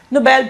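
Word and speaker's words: Nobel: नोबेल prize Alfred नोबेल के नाम पर नोबेल प्राइज, नोबेल अलग वर्ड होता है, ये नोबेल है, that's how we pronounce it, generally ऐसे बोला जाता है।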